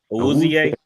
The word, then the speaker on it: Awuzie: Sneed and a Woozy. What is it? What's how you pronounce it? Awuzie.